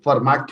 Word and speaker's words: Fermat: लोग को इसको बोलते मैं अगर पढ़ूंगा तो इसको फर्मेट पढ़ूंगा लेकिन टी साइलेंट रहता है तो इसको फर्मा थरम बोल चलिए भाई फमा